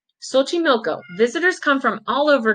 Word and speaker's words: Xochimilco: lake I actually don't I'm not too familiar with exactly how to say this lake but I think it's Bochy Milko Xochimilco visit come from all